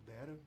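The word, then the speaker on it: Daraa: Então, a crise na Síria tem esse papel, né, ela começa em 2011 com protestos contra o governo, numa cidade chamada Dara, ou Dera, depende da pronúncia, e o governo ele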